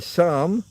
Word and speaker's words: psalm: years old and in psalm I don't know what psalm means ps with a p silent p do we have many